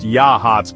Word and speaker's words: Yachats: Pronounced Yachats, by the way, took me a minute to get that right.